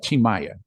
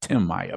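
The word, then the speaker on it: Tim Maia: you have somebody like chimaya I know if you see the name and you look at it in English it looks like Tim Maya but Brazilians pronounce it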